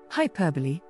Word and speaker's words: hyperbole: most people pronounce this word wrong hyperbole hyperbole hyperbole is a noun and it means